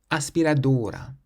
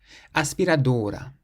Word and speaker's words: aspiradora: So we stress the first part of the word, not the end, because it ends in a vowel.